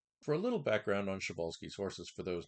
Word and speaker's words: Przewalski: Also, Shabbolski's horse is the proper pronunciation.